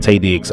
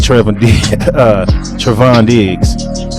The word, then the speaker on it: Trevon Diggs: So I'm good with about to say his name wrong. I said Tay Diggs. I'm good with Trevon Diggs.